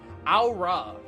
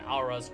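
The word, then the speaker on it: Au Ra: Aura. I'm just saying, I'm pronouncing this like Amon-Ra, really, more than anything else.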